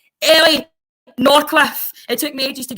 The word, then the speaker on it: Ellie Norcliffe: Ellie Norcliffe.